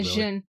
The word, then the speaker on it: Djinn: The D is silent. Yeah, Jin. It's just Jin? I've always said Jin, but it's probably Jin. It's like Django, but... That's what I just said, the D silent.